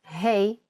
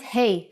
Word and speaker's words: ה: Doesn't Hey from this lesson sound like Hey in English? When you say hello to your friends? That's exactly the sound for the Hebrew letter Hey.